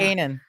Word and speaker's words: Kanan: the k a n a an however you pronounce that Kanan Kanan okay so that's the name of the